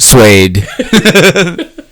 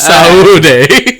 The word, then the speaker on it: saúde: The Portuguese one is just suede. It's Saúde.